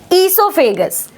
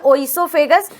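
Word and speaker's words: oesophagus: आपका देखिए हम हम इससोफेगस ठीक है इसको कुछ लोग प्रोनन्सिएट करते हैं ओसोफेगस तो जो भी आपका प्रोनन्सिएशन है बस टर्म्स को समझते रहिए इससोफेगस बोलिए ओ इसोफेगस बोलिए डजंट मैटर ठीक है अब देखिए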